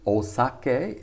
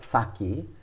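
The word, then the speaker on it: お酒: so it could be osake is the native pronunciation so we americans call it saki that to call it saki is totally wrong it's osake using the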